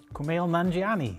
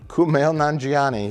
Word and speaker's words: Kumail Nanjiani: sequel given how do you say his name kumail nanjiani kumail nanjiani he's a very funny guy yeah i really